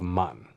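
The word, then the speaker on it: 万: back this character with the pronunciation guide of man think about how powerful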